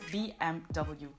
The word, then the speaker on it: BMW: But in German, it's actually pronounced, of course, the German way, and that is BMW. This is the German pronunciation of the letters BMW, BMW.